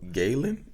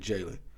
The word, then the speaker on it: Galen: name was Jalen but it was spelled with a G so Galen yeah technically okay technically Galen but he pronounced it Jalen so he was the